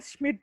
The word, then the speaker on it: Schmidt: That is, it is a Schmidt reaction.